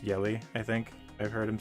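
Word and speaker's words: Jelle: like it's pronounced jelly is j-e-l-l-e but it's pronounced yelly i think i've heard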